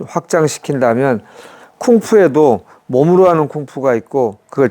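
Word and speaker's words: 工夫: 공부란 말이 한자로 쓰는 글자, 이 중국 발음이 쿵푸입니다. 쿵푸.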